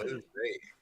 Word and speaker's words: Alizé: Alizé, yeah.